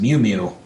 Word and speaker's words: Mew Mew: that I can't remember, she says the name of the hammer as Mew Mew, like a cat saying Mew, M-E-W, like she says Mew Mew.